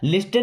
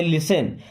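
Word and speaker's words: listen: carefully देखिए यहां पर इस वर्ड में टी साइलेंट होता है ना लिस्टन नहीं पढ़ते लिसन लिसन का मतलब होता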